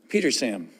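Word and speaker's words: Petersham: And went to Petersam, spelled with an H. You don't pronounce the H.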